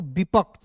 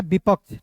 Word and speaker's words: विपक्ष: तो इसका उच्चारण छ के रूप में करेंगे। तो क्या हो जाएगा दोस्तों? विपक्ष। क्या होता है? विपक्ष।